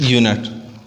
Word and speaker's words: unit: Just because U over here pronounce its exact sound. Unit. It's not as vowel sound are not. No, it is unit. As I have mentioned before that vowel sound or vowel letter is needed for the usage of N. So over here unit is not pronounced as a vowel sound.